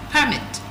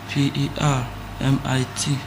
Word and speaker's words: permit: Now remember um we have two ways of pronouncing this word. Permit like I said is an official document giving someone authorization to do something while the other one is permit allowing someone to do something right those are two different meaning but um different pronunciation.